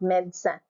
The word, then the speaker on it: médecin: And then you have the word médecin, médecin, médecin, médecin, médecin. The second E is silent, médecin.